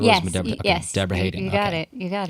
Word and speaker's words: Debra Haden: Debra Haden. I'm pronouncing that right because you yes, was Debra. Okay. Yes, Debra Haden. You got it. You got it. It's important to pronounce correctly.